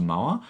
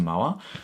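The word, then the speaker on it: Moher: of it is the Cliffs of MOA I think that's how you pronounce it m-o-h-e-r the Cliffs of MOA but the Cliffs of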